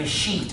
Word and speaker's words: escheat: That's called an escheat when that happens. And it's spelled E-S-cheat, C-H-E-A-T.